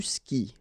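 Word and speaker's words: skies: And then, tu skis. Exactly the same thing, even if you get this s. Well, actually, the is mute. You don't pronounce it, so you don't pronounce the final s either.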